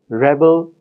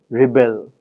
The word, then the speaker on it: rebel: consequences of the stress the words Rebel Rebel similarly are different because of their stress in the noun the stress falls in the first syllable and in the verb Rebel the stress falls in the second syllable any differences in the